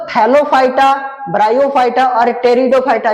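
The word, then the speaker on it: Pteridophyta: T silent है इसमें टेरिडोफाइटा।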